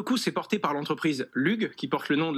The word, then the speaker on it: LUGH: Le LUG, je crois que ça se prononce comme ça.